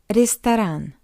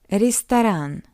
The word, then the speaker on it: Ресторан: Secondly, this ye is unstressed. That's why we pronounce it as E. Ресторан. What else? O is unstressed as well. That's why we pronounce it as A. Ресторан. And after the second R, we have A. That's why this R is hard.